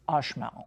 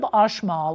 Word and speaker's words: Uxmal: Now, the other city is Uxmal, and it's spelled Uxmal, but I believe the pronunciation is Uxmal. I actually went on Google and listened to it.